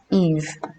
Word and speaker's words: Ib: Hivi is from the word Ib, pronounced Eve, meaning a tribe of